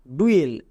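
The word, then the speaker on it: dual: দেখো magic tricks যেমন ডি ইউ এল এর উচ্চারণ কি হয় ডুয়েল এটা আমরা এক্ষুনি দেখে আসলাম ইউ এর জন্য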